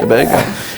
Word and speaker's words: Tobago: And China Allen, who is the past Miss Trinidad Tobago. Did I pronounce that right? Tobago. Yeah. Tobago.